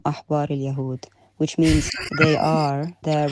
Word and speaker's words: أحبار اليهود: Actually, the sentence is Hum Ahbar al-Yahud, which means they are the rabbis of the Jews.